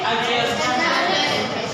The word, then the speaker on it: adjust: After that adjust. Adjust. Adjust. These again silent.